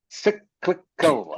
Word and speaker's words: cyclical: me please T cycal cyclical okay have to pronounce the L in the middle try again c c